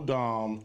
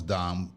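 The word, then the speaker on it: domme: all the power that's true there is no dom if a sub doesn't submit absolutely so that's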